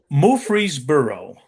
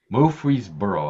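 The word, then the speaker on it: Murfreesboro: That's a that I know I'm mispronouncing it, but how do you how did you pronounce it? Mree Burrow. Mree Burrow.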